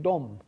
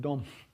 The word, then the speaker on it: dom: Because uh Polish has words like dom, which is the word for house, and that ends in a voiced sound, right? Dom doesn't become domp.